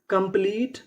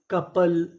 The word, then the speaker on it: couple: कंप्लीट, company, कॉम्प्लीमेंट, commerce.